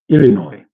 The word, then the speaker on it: Illinois: Pronounced without the S. Okay. Or Illinois. Oh, Illinois.